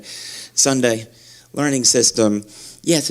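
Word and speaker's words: Sonday: how they pronounce it rhymes with Monday Sunday Learning System yes it's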